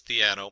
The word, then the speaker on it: Theano: in there and looked it up it is theano there's a lot of pronunciations theno and different things uh so theano uh it's